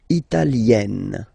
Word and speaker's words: italienne: L'Italie, italien, italienne. Remember, when you get this E, followed by a double consonant like here, then you will have to open it.